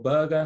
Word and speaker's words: Berge: And this was kind of the game where Sander Berg, or Berger, however, depending on which commentator you listen to, how he pronounces it, came to life, scored a goal, got at least one assist.